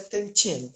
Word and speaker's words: Dantian: latinos, eu acho que os livros vão grafar Dantian, né? Mas pronuncia Tantien.